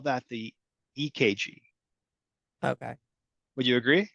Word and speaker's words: EKG: EKG. Now it's spelled with a C, but we pronounce it with a K.